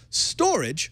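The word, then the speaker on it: Storj: about shared resources by using your hard drive storage which is spelled s-t-o-r-j is a startup that is looking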